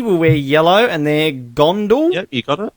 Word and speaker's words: Gondol: Beauty will wear yellow, and they're Gondal. Yep, you got it. Gondal, Fondle the Gondal. Gandalf. Gondal. I'm just going to call them the Fondle tribe, because we're going to fondle the Gondal.